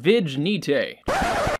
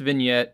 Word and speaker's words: vignette: personal go-to favorite is under image effects called vigenite just kidding it's pronounced vignette I just wanted to see your reaction to